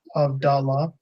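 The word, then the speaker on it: הבדלה: It'll be Avdallah. So av and then da, right? Da, Because the okay. hey at the end is silent.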